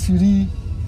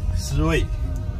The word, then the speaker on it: SIRUI: You know, so many people have an issue how to pronounce SIRUI, and they complain that every time I use a different name. Sometimes SIRUI, sometimes SIRUI, sometimes SIRI. So what is the real name of the company? SIRUI.